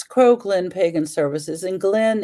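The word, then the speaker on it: Gleann: It's Crow Glen Pagan Services, and Glen is spelled, the goddess gave me Glen spelled this way. And I just found out that recently that it was Scottish, G-L-E-A-N-N, and it's Crow Glen Pagan Services.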